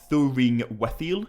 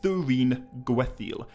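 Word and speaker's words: Thuringwethil: she is tolkien's only named vampire thuringuethil and thuringoathil is not an easy name to pronounce correctly but i feel confident that what i just said there was right it's definitely not thuring wethel it's thurine gwetheil thyrene means secret in cinderine and gwath means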